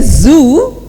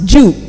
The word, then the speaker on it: zoo: If I say zoo, pronunciation comes Jew.